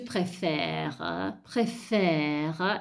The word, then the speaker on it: préfère: Se io dico tu préfères, io mi fermo a préfère, a sentire la R, perché la E poi è muta, quindi cade.